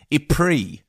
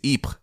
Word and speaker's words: Ypres: me it was pronounced II um and I just want to say that's a beautiful British mangling of French that no French person would understand II to this town the French pronunciation is EP but um I because